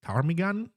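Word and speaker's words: ptarmigan: I think it's tarmigan. It's it's spelled PT Armagan.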